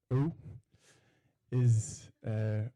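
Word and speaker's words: øy: silver hair, that apparently in Norwegian, island is pronounced Oi.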